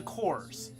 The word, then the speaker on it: corps: I say corpse, it's the cores.